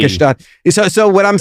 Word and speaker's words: Gstaad: You don't pronounce the G. Gstaad.